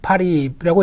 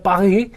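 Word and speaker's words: Paris: 싶은 가장 좋은 이제 파리라고 얘기를 하는데 보통 어 본토 바름은 그게 아니죠 빠죠 빠흐 예 그리고 프랑스가 아니고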